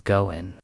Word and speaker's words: 五円: The pronunciation of five yen in Japanese is goen, which is a homophone for good to fortune o.